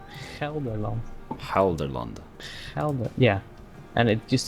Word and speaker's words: Gelderland: It's nowadays it's Gelderland. Halderland? Gelderland.